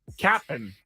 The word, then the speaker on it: Cap'n: And by the way, I'm pronouncing that correctly. It is not Captain Crunch. Cap'n. It's Cap apostrophe N.